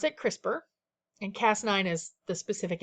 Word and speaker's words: CRISPR: palindromes so the same forward and backwards we pronounce it crispr and cas9 is the specific enzyme we use